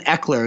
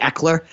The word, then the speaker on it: Ekeler: I'm very intrigued by Austin Ekeler as well. I think that's how you say it, Ekeler, I believe, for the Los Angeles